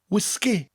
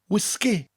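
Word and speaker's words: wisgi: the first is whiskey the only difference is we emphasize both syllables and bring out that gas sound whiskey whiskey next we have pop in the UK you call it soda in the u.s.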